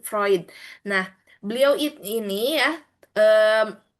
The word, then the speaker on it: Freud: Ee kalau ditulisnya itu Sigmund eh Frud ya, tetapi dibacanya Sigmund Freud.